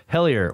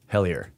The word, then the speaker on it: Hellier: It's spelled like hell and then I-E-R. Hellier.